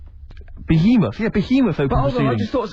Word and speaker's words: Behemoth: Deathly Bayamoth. Behemoth.